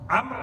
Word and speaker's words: Amr: Amr is written Ayn Mim Ra Waw. There's one more letter at the end of the name Amr in Arabic that's not pronounced. You don't pronounce the waw.